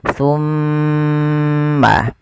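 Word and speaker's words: ثُمَّ: Ketika ada mim, mim berharakat tasydid. Cara membacanya ditahan suara mimnya. Summa.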